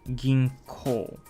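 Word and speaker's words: 銀行: Or ginko, bank. It's pronounced ko after gin, ginko.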